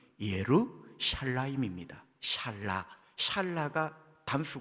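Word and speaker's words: ירושלים: 야말로 예루살렘 입니다 그런데 예루살렘 이라는 적막한 히브리 발음은 예로 샤일라 입니다 샤랄라 찰나가 담수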